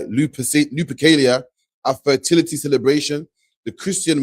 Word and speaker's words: Lupercalia: Valentine's Day has murky origins, blending Roman pagan festivals like Lupercalia, a fertility celebration, the Christian martyrs. Hold on, it's Lupercalia. So you pronounce it, my bad. Yeah, Lupercalia.